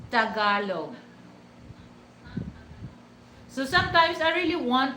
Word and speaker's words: Tagalog: It's Tagalog. It's Tagalog. But sometimes I understand that, some Western people, they have a hard time to speak. They speak it Tagalog. No, it's not Tagalog. Okay, it's Tagalog.